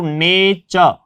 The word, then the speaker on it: nature: हम इसको जब पढ़ेंगे तो नेचर, नेचर यानी टी जो है वो च का उच्चारण दे रहा है।